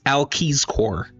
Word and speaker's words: Ulciscor: Ulcisor? Yeah. So that's what I would have thought reading it. In the audiobook, it's Alciscor. Oh, nice.